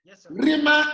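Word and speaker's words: Rhema: Now, Rima is spelled R-H-E-M-A. Okay. Yes, sir. The cause of the rough breathing mark on top of row, that is where the H is coming from.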